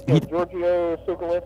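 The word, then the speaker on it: Giorgio Tsoukalos: George sukus who does Georgio sucus I believe is the pronunciation one of the the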